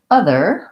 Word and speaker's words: other: So in the word other, we have first syllable stress. So the is long and the there is short. It's kind of funny because in this word, the long syllable is represented by 1 letter and the short syllable has 4 letters. So it might not be like you think.